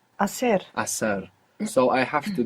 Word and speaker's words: hacer: Begins with a silent H. Hacer.